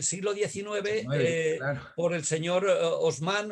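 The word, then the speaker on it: Haussmann: 19 por el señor osman o hausmann como ustedes quieren llamarlos y lo pronuncian en alemán no lo producen en francés y a partir de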